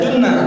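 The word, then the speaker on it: جُنّة: Kalau dibaca jannah artinya surga. Kalau dibaca jinnah itu artinya bangsa jin. Tulisannya sama, jim nun ta marbutoh. dibaca junnah bagi perisai, dibaca jannah surga, minal jinnati wan nas. Kalau jinnah bacanya bangsa jin.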